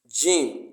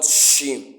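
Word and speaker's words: جيم: to the gy now Jim as it has been explained earlier it is pronounced from the middle of the tongue and the mouth from inside Jim Jim Jim g g g not g not shim not shim as some it's not shim it's not shim it's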